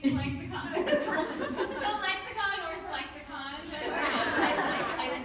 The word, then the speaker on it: ClexaCon: So, hi guys, welcome to ClexaCon. Is that how you say it? I'm saying it. Yes, I've been saying ClexaCon.